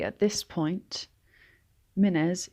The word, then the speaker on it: Mynnes: I should also say at this point, Mynnes is spelt with two N's together, and both of them should be pronounced.